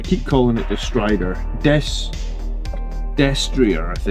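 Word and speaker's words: destrier: Desrier I think is how you're supposed to pronounce it. Night Destria. I think it's French. Someone told me it was French.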